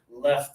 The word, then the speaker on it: left: Or it can be right side, left side. Close your teeth for this one. This one is left.